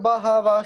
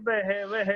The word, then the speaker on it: बहवः: सोमदत्तिस्तथैव च अन्ये च बहवः शूरा मदर्थे। रुकिए। बहवः वहवह विसर्ग का उच्चारण ठीक करिए। बहवह नहीं होता, वहवह। बहवह वहवह बहवह। ह का उच्चारण कंठ से करिए। ह का उच्चारण बहवह।